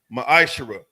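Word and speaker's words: מעשר: It means 10th in the Hebrew. It's pronounced ma'ashara.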